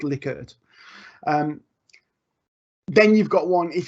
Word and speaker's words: Likert: but it is actually I am assured to pronounce Lily could then you've got one if you could pick